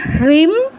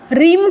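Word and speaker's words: ह्रीं: আম হিম হৃম হ এর নিচে রফলা আছে। তো উচ্চারণটা যেন আসে। রিম কেউ বলবে না। রিম বললে কিন্তু হটা আপনার মানে উচ্চারণ হলো না।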